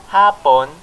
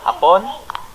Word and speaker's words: hapon: do the same so for example hapon the stress is on the first syllable it means it means afternoon but if we put the stress on the last syllable upon that means the japanese people or just the japanese yeah these are